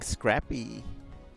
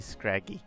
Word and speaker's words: Scraggy: Fighting, Scrappy. Not Scrappy, Scraggy. Poison, Venipede. Some of these I've never heard pronounced out loud, by the way, so bear in mind.